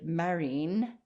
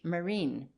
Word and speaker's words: marine: ireland and scotland and our old word marine has had its pronunciation changed owing to the influence of the french marine even a word like